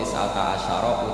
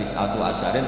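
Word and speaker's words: تسعة عشر: alaiha itu tetepatase neroko tisata Asaro utawi 19ong tetap bacanya bukan tisatu asyarin tapi tisata asar jadi kita tahu secara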